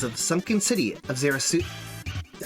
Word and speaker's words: Ziusudra: Ziusudra. Ziusudra. It's not hard to pronounce. You just sound out Ziusudra.